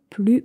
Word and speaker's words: plus: Plus on se focalise sur le négatif, the more we're going to look for, plus on va chercher à confirmer nos pensées négatives. Mais donc, attention à ne pas prononcer le S.